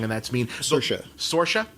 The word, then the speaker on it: Saoirse: Is a movie with I'm not even going to try to pronounce her name because I'm going to get it wrong, and that's mean. Saoirse.